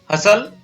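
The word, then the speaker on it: hustle: शब्द के बाद अंत में STLE या STEN हो तो टी साइलेंट रहता है। इन शब्दों को यहां पर पढ़ेंगे, हसल, बसल, आप भी मेरे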